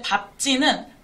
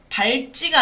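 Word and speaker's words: 밟지: 근데 밥지는 발지가 아니라 밥지로, 비읍으로 발음된다는 거예요.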